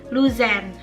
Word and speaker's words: Luzern: Padahal yang seharusnya E di tengahnya itu dibacanya jelas. Jadi Luzern.